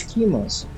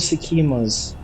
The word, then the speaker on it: Sekhema: about the tri es schemas pardon trial of Simas yeah that's the right pronunciation so um the trial